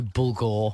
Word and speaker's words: bulgur: There's no bulgur or whatever it is.